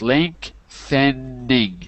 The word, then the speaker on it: lengthening: Lengthening. Yeah, it's three syllables. Lengthening.